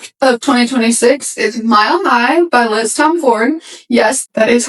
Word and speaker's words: Tomforde: It is Liz Tomforde, PSA.